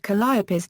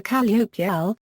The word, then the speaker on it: Calliope: Vachel Lindsay, called the Calliope, in which Lindsay uses both pronunciations. However, in the song Blinded by the Light, written in 1972, Bruce Springsteen used the four-syllable pronunciation when referring to a